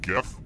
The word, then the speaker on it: GIF: I stand for in gif and yes I pronounce it with the G sound not the J tarts